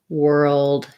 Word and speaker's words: world: to think about that both girl and world have the er sound so thinking about er and then g o and were old um so for they're one syllable words but kind of breaking it up and stretching out your earl is going to help you for both of those words okay last word last